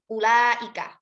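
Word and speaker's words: أولئك: Maka membacanya bukan dibaca ulaika. Wawu di situ hanya sebagai zaidah dan ditandai dengan adanya sifrun mustadir di atasnya.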